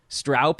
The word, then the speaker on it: Stroup: I mean, I thought I had heard you say it, the correct pronunciation of your last name. Can we plant a flag in Stroup on this show so people start getting it right from this point forward?